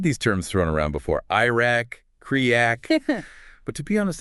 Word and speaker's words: IRAC: We're going to use either the IRAC, pronounced IRAC, or the CREAC method.